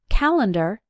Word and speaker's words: calendar: you might notice that when we pronounce it calendar it sounds like e but when we write it the correct way is to use a another commonly misspelled word